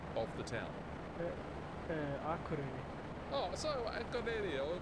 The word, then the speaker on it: Akureyri: Could you please give me the correct pronunciation of the town? Akureyri.